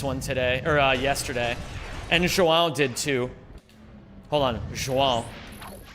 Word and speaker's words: João: I swear to God, it's pronounced how? João? The first one. So João. Like that? Every Portuguese person tells me I've never pronounced it correctly. First one is legitimately the closest.